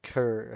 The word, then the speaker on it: Coeur: Cur, spelled Coeur, which is the French word for heart, which could signify God's love.